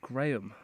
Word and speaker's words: Graham: It's pronounced Graham. That's what I said, Graham.